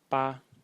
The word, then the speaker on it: 巴: detailed about this so the first character is pronounced ba or ba without any tone So ba in the